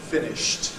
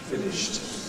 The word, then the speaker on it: finished: Is voiceless. Past tense. Finished. Finished.